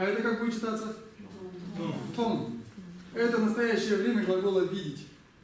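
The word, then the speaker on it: མཐོང: Том.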